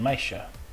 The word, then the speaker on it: meisje: Remember the SJ, however, will still be pronounced sh, as in meisje.